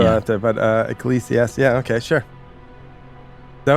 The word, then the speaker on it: Ecclesiastes: Oh, that's that Bible chapter, Ecclesiastes, right? Ecclesiastes? Ecclesiastes. Oh, okay. It's hard to read because it's hyphened in my notes here. So Yeah. I have to, but Ecclesiastes, yeah, okay, sure.